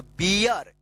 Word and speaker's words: beer: देखिए यहां पे BEER क्या पढ़ेंगे इसको? बियर। ईयर उच्चारण होगा, ईयर। यानी आर है तो ईय उच्चारण हो जाएगा, वियर। देखिए वियर, आर के लिए क्या होगा? र उच्चारण होगा ना, तो बियर।